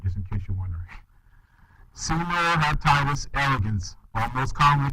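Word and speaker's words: Caenorhabditis: you want um answered okay so this animal Senor hatius that's how you pronounce that word just in case you're wondering Seno heitis Elegance or most commonly called C Elegance all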